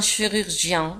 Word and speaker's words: chirurgien: le chirurgien un chirurgien G-I-E-N تنطق جيان un chirurgien le chirurgien ممرضة une